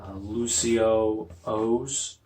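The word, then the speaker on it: Lucio-Oh's: And it's kind of funny how it's actually pronounced. It's Lucio O's. I'm more prescribed to calling them Lucios. I think that just has a better ring to it. It rolls off the tongue a little bit better.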